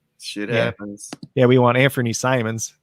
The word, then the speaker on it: Simons: yeah we want anthony simons is actually uh how you pronounce his last name simon's yep uh only one m n not two m so all right and